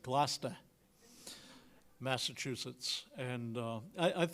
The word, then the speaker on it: Gloucester: the way ours were in Gloucester if you ever been up to oh sorry I mispronounced that glast Massachusetts and uh I